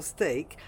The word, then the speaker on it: steak: It's actually quite a difficult word to pronounce, and in my video Stick, Steek or Steak, I addressed this question and gave you a